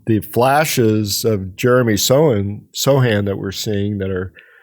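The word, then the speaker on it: Sochan: was mentioned Jeremy have we decided if it's Sohan or Sohan because he pronounces it both ways as well I had heard um when we were in Minnesota that they'll land for under the podcast yes there is a on the Spurs um notes okay notes that often have pronunciation guides for like opposing announcers it says Sohan so when you go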